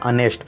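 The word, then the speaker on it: honest: यहाँ पे आ रहे अनेस्ट हो रहा है तो इसको अनेस्ट पढ़ेंगे, लेकिन एच से लिखा है, लेकिन इसका प्रोनाउंसिएशन क्या होगा, अनेस्ट।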